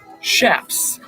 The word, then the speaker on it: chaps: And most of the time, leather was used for the pants or chaps, which are actually called chaps, pronounced with an SH.